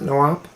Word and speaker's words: NWAP: That's right, we pronounce it NWAP.